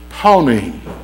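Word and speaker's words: פנים: I know how it looks, but that's not how you say it. Panim.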